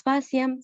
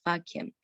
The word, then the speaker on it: faciam: Por ejemplo, en faciam, no decimos faciam, sino decimos faciam.